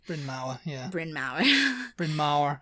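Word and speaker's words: Bryn Mawr: to Brin Mah College I know if I'm pronouncing that correctly bin ma yeah bin ma bin ma yeah Mar in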